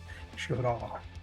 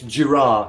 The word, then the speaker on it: Girard: Girard. Yeah, and no, sorry, giraffe, because I thought, well, I'll remember that in future because it's like giraffe. So it's giraffe. He pronounces it giraffe, so I do that.